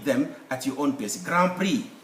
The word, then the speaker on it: grand prix: at your own pace grand prix there is x there but we don't pronounce it then there is why